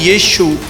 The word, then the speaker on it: यीशु: ਯਸੂ ਕੀ ਹੈ ਫਿਰ ਯਸੂ ਜਿਹੜਾ ਕਿ ਗੱਡੀ ਦੇਤੀ ਯਸੂ ਨੇ ਮੇਰਾ ਯਸੂ ਯਸੂ सोशल मीडिया ਆਪਾਂ ਦੇਖਦੇ ਆ ਉਹ प्रोनाउंसिएशन गलत है। राइट शब्द का प्रोनाउंसिएशन है वो है यीशु।